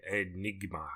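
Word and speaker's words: Aenigma: But is it Enigma? But like it's spelled weird, right? Yeah, Enigma.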